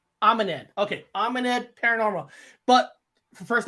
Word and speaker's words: AmeNed: Actually, how you say pronounce it properly? AmeNed. AmeNed.